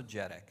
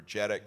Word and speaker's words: JEDEC: think there's a lot of activity, and also JEDEC. I think that's the Could two places. Could you just spell that out?